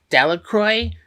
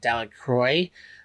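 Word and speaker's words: Delacroix: of hers named Mrs Delroy um it kind of pronounced that wrong I think it's supposed to be delaqua but in the story it says that they pronounce it Del Croy um yeah we could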